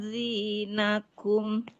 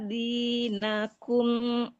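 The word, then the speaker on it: دينكم: rabbah inni akhafu ayyubaddila zinakum Ibu. aw yudhira fil fasad. Kenapa, Bu? Ayubat diladi ya Bu, bukan zi ya, kayaknya ibu bacanya zi ya. Ayubat diladinakum. Coba ulang lagi. Ayyubaddila dinakum au ayyudhira fil ardil fasad.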